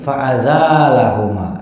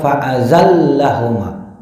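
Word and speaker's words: فأزالهما: Muka bumi wapi qiroatin faazalahuma. Dalam satu qiraat dibacanya Bapak Ibu itu bukan faazallahuma, tapi dibaca faaza lahuma.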